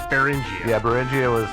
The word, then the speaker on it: Beringia: Yeah, so Bering they put an IA on the end, so I assume it's Beringia.